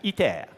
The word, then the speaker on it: ITER: was pretty good now this is iter pronounced in French itea so this is a